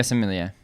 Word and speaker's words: sommelier: earlier in the show, who's do we say sommelier? Yeah, sommelier. Yeah. Sommelier. Did I pronounce it correctly?